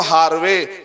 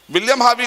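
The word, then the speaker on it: Harvey: लोग क्या बोलते हैं विलियम हार्वे या बिलियन हावी आर को साइलेंट करेंगे तो विलियम हावी कौन है इटली में शख्स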